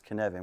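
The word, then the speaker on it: Cynefin: ever read anything about Kevan this is the lovely thing here I bet you were not going to pronounce it as Canan were you it's a brilliant Welsh word took me years to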